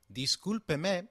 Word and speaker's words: Discúlpeme: ¡Discúlpeme! is pronounced as Dee-skool-pe-me With the sound of pe like in pet and me like in met Lets now look at